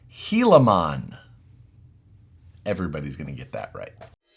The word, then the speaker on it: Gilamon: name into your heads it's pronounced helon everybody's going to get